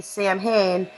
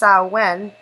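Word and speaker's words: Samhain: of now what I would say would be Sam Hayne but it's actually pronounced saen word Corey yeah a lot of people have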